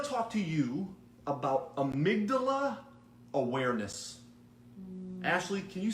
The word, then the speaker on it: amygdala: Amygdala.